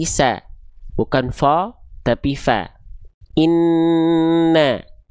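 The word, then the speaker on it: إِنَّ: Inna ya. Bukan inno enggak. Tapi inna na ya.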